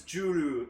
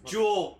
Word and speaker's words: Jewel: that's why it's bugging me that people think that Jewel's name is Juru. And it's like, no, it's Jewel, people.